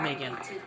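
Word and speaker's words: Meagan: I I like my name uh Megan. And also my name spelling Megan is M E A G A N. Not M E G A N. A N which is pronounced the same Megan but um but I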